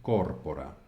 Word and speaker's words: corpora: penúltima continuamos corpora vale la penúltima es corta por lo tanto corpora coepis de acuerdo esto